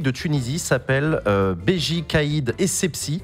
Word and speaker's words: Essebsi: Le président de la République de Tunisie s'appelle Béji Caïd Essebsi. Manuel Valls a écorché son nom et l'a prononcé Ezibi.